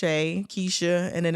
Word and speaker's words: Kysha: um I'm on social media as my name is spelled k y s h a Kesha and then it's